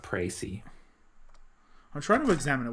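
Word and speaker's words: précis: The court has now heard a precus of the case. That might be it. I'll check the court record. I want to examine. How do I flip it over? It's pronounced Pracy.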